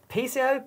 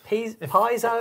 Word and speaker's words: piezo: Piezo, piezo, piezo. If you're American, it's piezo. Hey, piezo. If you're English, it's piezo. Piezo.